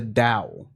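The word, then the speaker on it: Tao: what it is it's a symbol for the Dow okay which is even funnier because it's spelled t o a but that's not the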